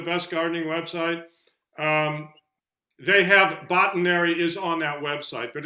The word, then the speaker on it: Botanary: It says search botanary to learn the meaning. It should be Botanary. It's like it comes from botany and dictionary.